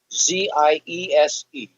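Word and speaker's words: Ziese: Z-I-E-S-E, pronounced Zies.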